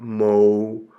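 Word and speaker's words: Μωϋσῆς: So what you see above the upsilon is two raised dots, a diaresis, and so you would pronounce that Mo-u-ses.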